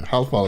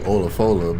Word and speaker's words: Olafola: And that's not how you say her name. It's actually Olafola, but Monty, good Monty from Hannibal Monty fucked it up for everybody, so we call her Holofala.